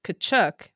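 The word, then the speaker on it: Tkachuk: But they have a silent T which is apparently the Ukrainian pronunciation. Oh, okay. So, it's Kachchuk while we're shook, right?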